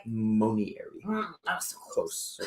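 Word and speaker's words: monnieri: Bacopa Momieri. Am I saying it right? Monieri.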